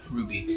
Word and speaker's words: RWBY: the link in the description yeah R WB Ruby not the r u y it's RWBY I know it's pronounced strange but you you'll find out why